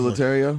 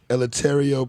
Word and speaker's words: Eleuterio: I remember letario is it lataria no it's not lataria military yeah let me spell it for you e l e u t e r i o latario i was homeschool